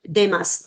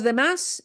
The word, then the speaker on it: demás: Oh, like demás, D-E-M-A-S. Sí. Los demás. Okay. Los demás. Los demás means everybody else.